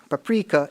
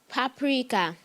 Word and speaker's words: paprika: Many cooks use paprika in their dishes. Is it a noun? It is. Can I pronounce the word correctly? Paprika.